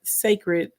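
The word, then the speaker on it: Cécred: you guys are going to be purchasing a sacred hair care that's how you pronounce it if you're wondering I saw a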